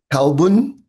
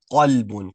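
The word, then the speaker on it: قلب: Kalbun and Kalbun. Okay. So they both sound and pronounced exactly the same. So the first one should be qaf. So not kalbun, but qalbun, qalbun.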